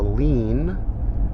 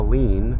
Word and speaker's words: lien: who who file a lien medical providers who file a lien l-i-e-n but it's pronounced lean on the wall but